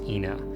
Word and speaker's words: Ina: The road that everyone calls Ina is correctly pronounced Ina.